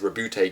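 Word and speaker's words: Roboute: to pronounce things like I pronounce Gillman one way I pronounce robut Gillman some people say it's route Gillman some like robut Gman everyone's got different opinions it's fine uh do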